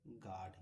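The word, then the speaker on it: guard: यू यू के बाद कोई वोवेल हो तो यू साइलेंट होता है। जैसे गार्ड यहां देखिए जी है जी के बाद यू ए आर डी इसको गार्ड पढ़ते हैं।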